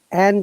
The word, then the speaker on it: and: Okay, if and is in the middle of two words, we don't pronounce D. Okay, so, but if it is after a comma or at the beginning, we must pronounce D.